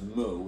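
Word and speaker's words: μ: value the highly stylized looking u which is pronounced mo it's a greek character all right is the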